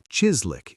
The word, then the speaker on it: chislic: Chislick, pronounced Chislick if you want to sound like a local.